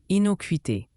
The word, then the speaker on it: innocuité: Inoquuité se prononce inoquité.